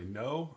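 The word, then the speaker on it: Noh: they go to a no i believe it's i believe it sounds pronounced just like know the word in english um play or drama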